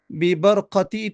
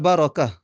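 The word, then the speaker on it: بركة: Bibarqati ni pun ejaan yang tak betul. Ejaan yang tak betul. sepatutnya bib bibarakah dengan bibarakatil mustafa sepatutnya biarakatil mustafa bukan dengan q tapi dengan kaf kerana barakah perkataan barakah bukan dengan qaf tetapi dengan huruf kaf nah jadi saya nasihatkan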